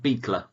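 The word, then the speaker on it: Buechler: we go when I undo me last name pronounced beekler sweet John Colby claw him with the big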